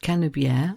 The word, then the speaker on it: Canebière: on the fact that canier so the name of the road in French rhymes with the French word for Hemisphere emisphere and making the